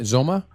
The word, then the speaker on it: Zoma: Am I pronouncing it right? Zoma? Yes.